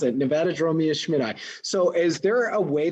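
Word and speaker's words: Nevadadromeus schmitti: and now someone just asked how do we pronounce nevada dromio schmidt-eye did i do it you did it i just answered a question all right that's how you pronounce it nevada draw me a schmidt so is there a way that you guys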